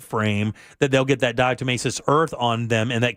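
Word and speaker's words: diatomaceous: Is that how you pronounce that? Dietimmacous.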